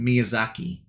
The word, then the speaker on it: Miyazaki: actually says it 285 probably pronouncing it wrong no Miyazaki is correct miyaaki everything in Japan